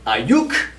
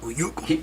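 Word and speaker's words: Aiyuk: I'm going to quickly say Brandon Ayuk. You gotta say his name like that from now on. Ayuk.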